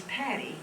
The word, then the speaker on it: Patty: 55 years and my first name is patty that rhymes with betty okay i was going